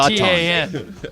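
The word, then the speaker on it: Šatan: Jeton. They pronounced it Jeton.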